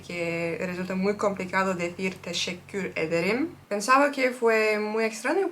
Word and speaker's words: teşekkür ederim: Teşekkür ederim. Teşekkür. Okay, Nochmal, aber ein bisschen langsamer. okay. Teşekkür ederim.